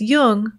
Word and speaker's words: Jung: or tune in just be sure to pronounce jung with a hard j so with special thanks